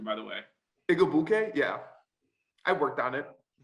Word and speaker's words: Igwebuike: Nice job with the name pronunciation, by the way. Igwebuike, yeah, I worked on it.